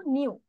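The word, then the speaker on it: knew: আর এটা প্রোনাউন্সিয়েশন দেখো নিউ। নিউ এর অর্থ কি?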